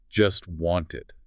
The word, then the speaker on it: just wanted: The source points out that in this particular utterance, the speaker doesn't pronounce the T sound in either word. Not in just and not in wanted. Both of them. So it sounds like just want.